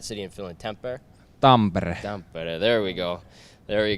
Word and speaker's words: Tampere: Tampere.